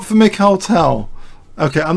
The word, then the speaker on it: Mikhail: Why someone says Michael Tal. Because it takes all the prestige out of the rich heritage of USSR chess to assume that Mikhail Tal is like Michael. Yeah, it's not pronounced like that.